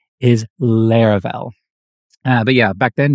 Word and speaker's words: Laravel: when people heard the word they called it LEL not laravel and actually some people still do today but trust me the correct pronunciation is Lar well uh but yeah back then nobody knew what